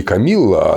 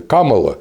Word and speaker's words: Kamala: А имя-то оно не Камилла, оно же индийское имя Камала.